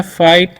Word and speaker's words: fight: FIGHT है, तो इसे हम लोग पढ़ते हैं फाइट, ठीक है। यहाँ पर भी आई का उच्चारण आई हो रहा है।